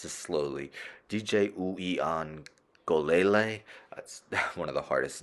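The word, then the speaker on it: Uiagalelei: eight interceptions and let's end with I'm gonna pronounce this slowly DJ ueon golele one of the hardest names to pronounce in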